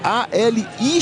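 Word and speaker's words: Alix: Mas é assim mesmo, é A L I X Ali Vinícius.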